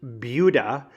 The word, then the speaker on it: Buda: Buda is pronounced Buda.